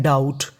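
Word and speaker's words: doubt: डी ओ यू बी टी इसे पढ़ते हैं डाउट। क्या पढ़ते हैं? डाउट। यहां पे जो बी है वो साइलेंट रहता है।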